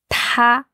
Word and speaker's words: 他: Il, elle, c'est la même prononciation. Ouais. C'est ta. Ta. Quel ton d'après toi? Premier ton. Ouais, ta. Et en transcription phonétique, c'est écrit ta.